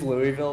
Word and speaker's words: Louisville: uh it's it is Louisville but everybody from around here says it like Louisville because we all talk like we got rocks in our mouth oh all right so